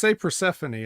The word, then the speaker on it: Persephone: No, we say Persephone.